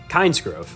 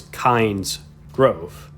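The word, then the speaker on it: Kynesgrove: the name of that village because most people pronounce it like i just did kinesgrove but it's named after the god kind so it's kinds growth i don't know i just always found that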